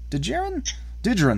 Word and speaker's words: Djarin: Djarin. Din Djarin. The D is silent?